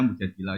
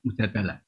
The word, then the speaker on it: Mujadilah: Yang benar itu bacanya mujadilah yang level A. Tapi umumnya orang baca apa? Mujadalah.